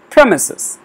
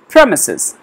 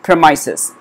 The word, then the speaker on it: premises: calling it premises or premises let's check it okay this has got the stress in the beginning of the word we call it premises premises so let's stick